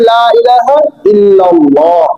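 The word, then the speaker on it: لا إله إلا الله: আর হামজার উচ্চারণ হয় সহজ হালকাভাবে। লা ইলাহা ইল্লাল্লাহ।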